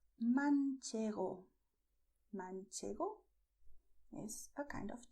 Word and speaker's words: manchego: And you also have the cheese that is called manchego.